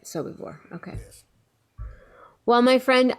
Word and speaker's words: Sobibor: Sobibor.